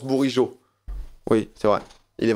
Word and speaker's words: Bourigeaud: Ça se prononce Bourigeaud.